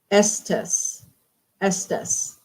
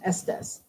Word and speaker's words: Estes: so The Shining wow Estus Estus pronounced Estes yeah I never saw it